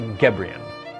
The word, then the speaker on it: Gebrian: Yes, good for you for asking, because people usually don't get it right the first time. It's Molly Gebrian.